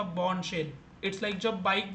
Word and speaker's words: Bourne: मतलब आप इसको रीड करते हो बॉर्नी, इट्स नॉट अ बॉर्नी, इट इज़ बॉर्न shell. अगर आप प्रोनाउंस करना चाहते हैं ना, सो BORN इसको प्रोनाउंस करो। अगेन आर थोड़ा साइलेंट होगा।